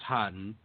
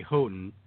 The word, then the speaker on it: Haughton: your last name and i know it's hotten and i keep wanting to say houghton and it's wrong yes um the way